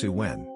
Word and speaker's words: Samhain: back thousands of years to the Festival of Sawan pronounced suwen so we nor saw when the Celtic New